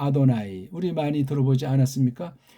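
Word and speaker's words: אֲדֹנָי: 요 발음은 모음 부호 원수들이 짝퉁들이 붙여놓은 것을 빌리면 그건 아도나이라고 읽습니다. 아도나이.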